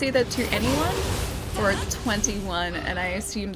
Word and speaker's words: 2NE1: Oh, 21 is how they say it, okay, I got it right. Because I was like, it's either 2NE1 or 21, and I assumed that 21 was right.